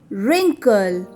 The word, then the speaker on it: wrinkle: Silent W words. Number 1, wrestle. 2, wriggle. 3, right. 4, wrong. 5, wrinkle. 6, answer. In these words, W is silent.